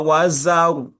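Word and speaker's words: وزر: z It's more or less like dhal as you're pronouncing it. Your pronunciation is very identical with dhal instead of z. Kalla la wazar. La wazar. z Kalla la wazar. You still have to work on that z.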